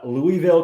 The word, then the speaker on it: Louisville: That is Louisville, Kentucky.